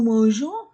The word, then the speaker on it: mangeons: au pluriel des œufs nous mangeons nous n'oublions pas le E après la lettre G pour prononcer la lettre G comme Jean on dit le petit